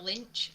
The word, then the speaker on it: Lich: Yeah, the Lynch. Lynch. Is Lich. that how you say it? Lich.